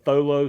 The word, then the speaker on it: Tholo: we hunted is called tholo safaris too not tholo too the H is silent it's t h o